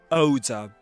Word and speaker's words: odor: There's a there's a tricky word, isn't it? Oda. Repeat after me. Oda. Oda. Oda. Right.